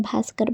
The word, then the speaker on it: भास्कर: तो दोस्तों, जब बी के बाद H आए तो हम उसका उच्चारण भा करते हैं। जैसे कहीं भी आपको BH दिखे तो उसको हम भा पढ़ेंगे। जैसे कि BHUSHAN, इसको हम भूषण पढ़ेंगे।